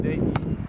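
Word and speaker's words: Dejion: That's how you pronounce it, Dayton. D-E-J-I-O-N Taylor on TikTok, you know?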